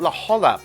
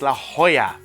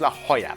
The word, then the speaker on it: La Jolla: And they corrected my pronunciation. It's not La Jolla Playhouse, it's La Jolla Playhouse.